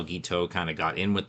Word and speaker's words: Guiteau: is Charles Guiteau, but they keep getting his name wrong. They think his name is Cousteau.